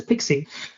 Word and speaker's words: PKCE: the concept so uh Pixie stands for proof uh proof key for code exchange it's quite a mouthful but what you pronounce is Pixie so previously um for